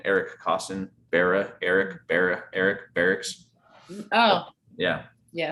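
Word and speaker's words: Berrics: costen bera eric barra eric barracks oh yeah yeah so it's spelled differently than the military dorm but it's the same name um but so steve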